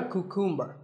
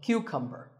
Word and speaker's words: cucumber: this is a cucumber it's not a cuckoo mer think of it like saying the letter Q and then cumber like number so cucumber this vegetable is called